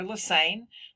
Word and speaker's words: Lassane: Lassane. The last name rhymes with insane.